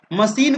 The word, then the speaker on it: machine: तो यहाँ पर ए में CH यानी CH का उच्चारण जो यहाँ पर स है।